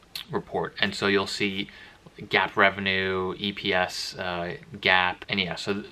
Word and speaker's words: GAAP: I'll talk about is GAAP GAAP that's how I just pronounce it and it stands for